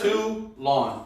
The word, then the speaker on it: Toulon: Toulon is how you say that.